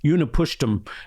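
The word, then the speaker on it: Utnapishtim: It's It's one of the hardest uh Babylonian names to pronounce, but it's Uni Pushtum. And Uni Pusham I was gonna leave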